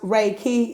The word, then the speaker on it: Reiki: read all right chapter one Riki Define Reiki pronounced Reiki is a Japanese technique for stress reduction and